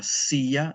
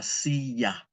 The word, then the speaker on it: silla: A chair is la silla. There's that double L, I'm sorry, that double L. La silla.